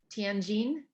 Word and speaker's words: Tianjin: where you were born would you like to pronounce it for me uh tenjin tianjin yeah okay all right close that's close simon